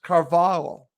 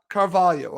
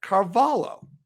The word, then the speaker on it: Carvalho: told by a friend in spain it's actually pronounced carvalho not carvalho again i'll say it again carvalho that's what i've been told is the proper